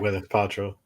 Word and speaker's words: Gwyneth Paltrow: I Gwennneth is that Gwyneth Patro.